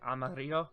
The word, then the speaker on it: Amarillo: It's Spanish, so it's like Amarillo.